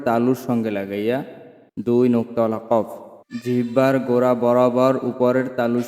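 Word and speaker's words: كاف: গোড়া বরাবর উপরের তালুর সঙ্গে লাগাইয়া দুই নোক্তালা কফ জিহ্বার গোড়া বরাবর উপরের তালুর সাথে লাগিয়া কফ উচ্চারণ করিতে হবে কফ কফ কফ কফ ক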